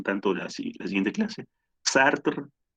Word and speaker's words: Sartre: de alguien de clase charter o sartre como como gusten les les francés la pronunciación del francés o stark es el